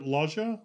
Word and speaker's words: Loggia: say his name but i got it robert laja laja i think is as dr bill raymond